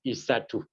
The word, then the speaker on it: isatu: You pronounce it as isatu.